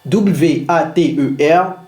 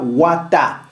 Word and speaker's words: water: entre deux sons vocaliques, il ne se prononce pas comme un t, il se prononce comme un d rapide. C'est ce que les linguistes appellent le flap t. W A t e r ne se dit pas wata, ça sonne water.